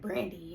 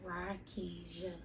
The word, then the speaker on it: Rakisha: Sometimes I still get like Brandy and things like that, but that's okay. So Rakisha is how you pronounce it, right?